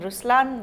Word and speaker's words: Ruslaan: so even in raslan when you say raslan also means the lion it's the attitude of but right pronunciation is Ruslan oh okay yeah there